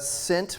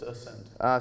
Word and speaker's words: Ascent: Aaron with Cent Private Capital for all your private capital management needs. Ascent. Ascent. Oh, I thought you said Did I say it wrong? Ascent. Yeah, it's Ascent.